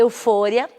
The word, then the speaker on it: euforia: Euforia, em espanhol a pronúncia é eufória.